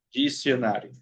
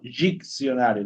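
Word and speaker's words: dicionário: Diccionario en portugués. Dicionario. Okay. Jionario. Entonces es jionario. No jicionario. No, jionario. Jionario.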